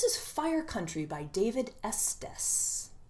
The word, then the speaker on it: Estes: This is Fire Country by David Estes, or Estes, depending on if you want to pronounce it correctly or incorrectly. I think it's Estes, and I met David